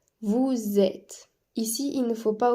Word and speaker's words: vous êtes: vous êt attention ici il faut prononcer le S du vous mais en Z car il y a une liaison vous êtes ici il ne faut